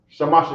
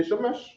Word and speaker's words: Shamash: No, they didn't say Shamesh, because Shamesh would be vowels in there, right? He said Shamash, because that time they were speaking Hebrew, and they named their god in Hebrew.